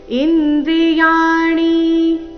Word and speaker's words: ಇಂದ್ರಿಯಾಣಿ: ಆಘಾತ ಬುದ್ಧಿರವ್ಯಕ್ತಮೇವಚ ಇಂದ್ರಿಯಾಣಿ ದಶೈಕಂಚ ಇಂದ್ರಿಯಾಣಿ ಇಲ್ಲಿ ಯ ದೀರ್ಘ ಮತ್ತೆ ಮುಂದೆ ಣಿ ರಸ್ವ ಬರ್ಬೇಕು ಇಂದ್ರಿಯಾಣಿ ಈ ರೀತಿ ಬೇಡ ಯಾವ ರೀತಿ ಬರಬೇಕು ನೋಡಿ ಇಂದ್ರಿಯಾಣಿ ದಶೈಕಂಚ ಚರಣದ ಕೊನೆಗೆ ಚ